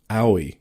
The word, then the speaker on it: Aoi: That one's going to be so annoying to pronounce if we come up in drafting discussions. It's just a really weird one. Aoi.